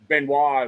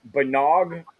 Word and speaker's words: Benois: how what you know I've heard it pronounced with letters that don't even exist in it like oh benog where do you get that from?